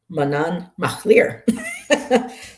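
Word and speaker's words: Manannán mac Lir: So they're telling us how to pronounce it here. Manan Machlir.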